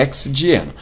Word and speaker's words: hexadieno: Bom, para pronunciar, a gente acaba colocando o A e hexa, né? Mas é hexadieno.